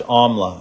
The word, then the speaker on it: Amla: So it's pronounced Amla.